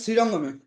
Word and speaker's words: শ্রীরঙ্গম: আর পুরীতে সাজেন শ্রীরঙ্গমে। আজ্ঞে প্রভু। সাজেন শ্রী, উচ্চারণটা কি হবে প্রভু? শ্রীরঙ্গম।